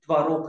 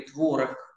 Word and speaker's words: творог: знакомые наверное как солёные творог или творог Как Вам угодно потому что словарь допускает И то и другое ударение э более жирные менее